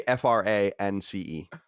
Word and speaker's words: France: We don't anglicize words apparently, so no, it's France. France.